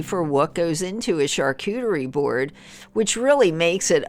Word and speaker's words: charcuterie: Charcuterie is a French word, as I mentioned, and that has been pronounced slightly different in different countries, but in English we're saying it charcuterie.